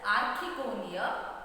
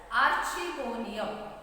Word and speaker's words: archegonium: can be called as archegonium, or else this word can be also pronounced as archegonium. Okay, there are two pronunciations for one word over here, archegonium and archegonium.